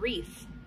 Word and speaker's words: wreath: WR is going to make the R sound, like in the word wreath.